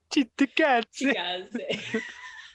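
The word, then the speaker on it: Cittàgazze: Chitagaze. You gotta say it like an Italian.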